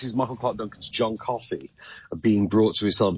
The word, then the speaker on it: Coffey: Your name is John Coffey. Yes, sir, boss. Like to drink. Only not spelled the same.